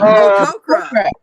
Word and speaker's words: Tok'ra: Tok'ra.